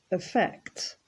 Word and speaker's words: affect: Affect. Notice that the emphasis is on the second syllable, so we don't say affect or affect, it's affect.